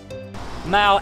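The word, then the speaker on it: Mall: Mal, M-A-L-L, not how you pronounce.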